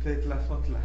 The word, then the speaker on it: tetlazotla: Tetlazotla. Ok, no, la Z no tiene ese sonido como Z actualmente, ¿no? En realidad suena como S.